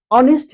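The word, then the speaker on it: honest: और 44 टा साउंड छै, तऽ एठाम ऑनेस्ट हेतै, ठीक छै। ह के उच्चारण नहीं हेतै, साइलेंट भ जाइ छै, तऽ त्या दुआरे ई जे छै भावेल साउंड छै, तऽ दी ऑनेस्ट मैन हेतै, ठीक छै।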